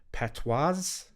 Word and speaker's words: patois: I don't know how to pronounce this, but I'll say patois, because I guess patois. Yeah, patois. There you go. Yeah. Silent S.